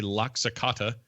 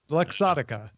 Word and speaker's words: Luxottica: is partnering with ray-ban they're comparing company anyway Locke Socata to bring augmented reality glasses to mark Sotka did I say it wrong luxottica you know what when you're here you're family